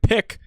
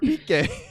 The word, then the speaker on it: Piqué: Hey, man, I packed this guy named Pick. His cards are blue. And then Matt's like, you idiot. That's Gerard Piqué.